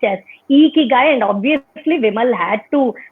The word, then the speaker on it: Ikigai: And like you said, how Ikigai is pronounced as Ikigai.